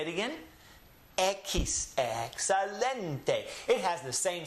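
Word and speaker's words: equis: These 3 letters, we saw them back with the letter Q. This comes out to the pronunciation ki, and then the last letter being an S. X.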